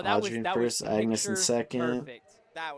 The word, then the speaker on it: Agnes: fun fact for Agnes, her name is pronounced Agnes, but our mouths don't really Agnes.